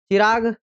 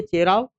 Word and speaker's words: चेराव: चिराग नृत्य किस अवसर पर नहीं किया जाता? बल्कि चेराव चेराव नृत्य को ही कभी-कभी गलत उच्चारण में यह कहा जाता है।